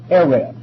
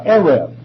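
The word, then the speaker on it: erev: there is a particular Hebrew word Arab we would spell it out e-r-e-v that's close enough uh Arif which means even now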